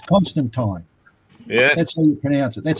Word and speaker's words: Constantine: do you pronounce that you and he says constant time yeah that's all you pronounce it that's how i pronounce it i